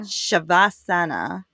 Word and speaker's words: Shavasana: you're right there those was other people yeah shavasana that's how they said it interesting uh learn